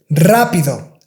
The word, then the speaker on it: rápido: I don't know if you notice, if you have a simple R in the beginning of the word, this word is pronounced with a strong R, like rápido, reloj.